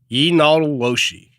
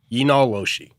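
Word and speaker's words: yee naaldlooshii: Pronounced, and here we go, Yinaloshi. Yinaloshi.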